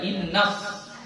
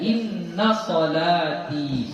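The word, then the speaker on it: إن صلاتي: Inna salati, jangan inna salati ya. Ininya enggak tasydid. Inna salati ya. Jadi jangan dibaca innas, bukan. Dia inna salati, sesungguhnya salatku, wa nusuki, dan ibadahku, wa mahyaya, dan hidupku, wa mamati, dan matiku.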